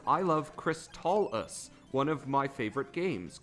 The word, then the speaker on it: Crystalis: Hammocksat says Crystalis is the proper way to say it. Like chrysalis with a T from crystal in it.